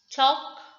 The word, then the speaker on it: talk: campaign g is silent talk l is silent assign g is silent